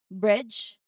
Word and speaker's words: bridge: Look at bridge. Again, bridge. Here the D is silent and the DG actually represents a single J sound, which is in IPA, this one.